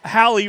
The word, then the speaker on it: Hallie: miss Warren's name okay it is Hallie rhymes with Sally's I said Hallie and then you said hey oh did I say Haley I let's call the